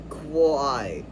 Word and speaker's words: choir: Plus in choir it's quai. Gets simplified to quai. Because it's easier to say that faster, quai, than koi. It just sounds like I, even though it's OI simplified. So the O is not the one making the I sound, it's the letter I.